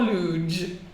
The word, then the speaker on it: luge: How do you say it? Luge. Like huge, okay?